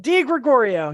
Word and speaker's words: DiGregorio: DiGregorio, yes. DiGregorio. And what was the radio station called again? Dark Haven Radio. Dark Haven Radio. So make sure you're checking those things out. And definitely message the DiGregorio page for when merch comes out and all